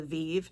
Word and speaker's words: Vivve: So, this is from Jamie Genevieve, and I've finally have learned how to say it now because the Vivve is from Genevieve.